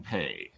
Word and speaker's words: Pei: up everybody and pay pay right yeah oh cool I usually say names wrong I like to tell people to pronounce my last name it's literally pay me money that's the Americanized way literally pay me money